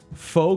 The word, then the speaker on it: pho: Pho Kim Long. Fuck him long. LG says it's pronounced pho. It's pho.